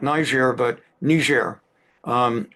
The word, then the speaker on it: Niger: two different it's like um in Africa there's Nigeria and there's another country whose name on paper seems the same ner they pronounce it most appropriately not Niger but ner um n g r and of course not